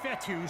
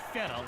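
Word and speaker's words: Fetu: fourth down so coach fethu spelled f-e-t-u for the longest time i was pronouncing it coach fetta like feta cheese so let's just say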